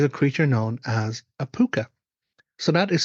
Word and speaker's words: Púca: Is it possible to survive an encounter with a puka?